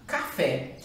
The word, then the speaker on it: café: A primeira a gente já encontra lá em cima, café, que ela está bem aqui.